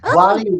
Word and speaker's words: Gwalia: It was Gualia? Yes, Gualia is the That's very That's very good pronunciation. Gwalia is the ancient Welsh